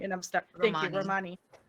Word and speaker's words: Romani: Thank you, Romani.